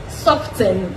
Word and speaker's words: soften: Soften, the T is silent, it is soften.